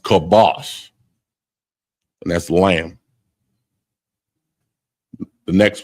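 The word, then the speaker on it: כבש: And it's pronounced kibosh, and that's lamb.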